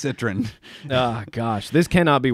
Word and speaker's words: Citroën: All you people who said I couldn't pronounce Citroën. I think you just keep getting worse. Citroën. It's Citroën.